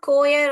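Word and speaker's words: choir: कि आइडेंटिफिकेशन होता है मगर यहां पे क साउंड करता है अ कोयर ऑफ सिंगर्स बहुत लोग जब आपके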